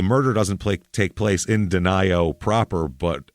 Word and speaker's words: Denio: Looks like Denio, but of course, because it's small town murder, it can't be pronounced that way. It's Denio.